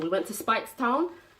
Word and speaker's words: Speightstown: We went to Speightstown. Speightstown.